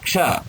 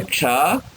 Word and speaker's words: क्ष: जैसे क्ष, क्षत्रिय वाला क्ष, कक्षा। तो इस क्ष में का, धन, श, इनका योग होने से क्ष बनता है।